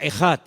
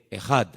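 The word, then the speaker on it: אחד: Y esa palabra, el Señor, nuestro Dios, es uno, es una palabra que se pronuncia Echad. E-J-A-D. Echad.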